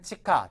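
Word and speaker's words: 地下: 문제에 잘 나옵니다 그래서 아 지하 할 때는 치카 지하실 하게 되면 치하 시즈 아닙니까 뭐 지하철면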